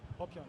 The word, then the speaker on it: Popion: Do I pronounce that correctly? Popion, yes.